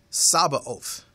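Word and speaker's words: Sabaoth: that word that talks about the villain one it's spelled sa a b a t o h sabba oath now that's now talking about the personality of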